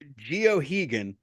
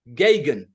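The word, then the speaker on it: Geoghegan: He says, he's like, Gagan. Gay-Gun. Oh, okay. Gagan. Basically rhymes with Reagan is what he sent me.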